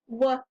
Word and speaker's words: were: If we were to sound it out, it looks like it should say w-e-r-e. But that doesn't quite blend together so well. This tricky word is were. This tricky word is tricky where the E-R is. The W says the right sound, w, but the rest of it says That's the tricky part.